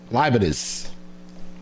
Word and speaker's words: Leibniz: How you pronounce Leibniz. That last name? Huh? Leibniz.